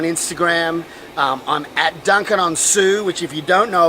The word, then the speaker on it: Tsu: I'm at Duncan on Sue, which if you don't know about Sue is an amazing context where people like the platform actually pays you for your content.